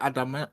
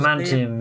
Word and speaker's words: adamantium: Is it adamant? How do you say it? Adamantium, yeah, adamantium.